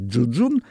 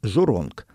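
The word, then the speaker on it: 祝融: так и не понял у китайцев есть две разных транскрипции и в одних источниках его называют джуджун А в других жоронг по-разному произносится те же иероглифы вот этот самый джуджун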